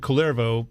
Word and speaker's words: Kullervo: The Kullervo story is found in, but I've read that apparently in Finnish it is Kullervo. With the stress on the first syllable.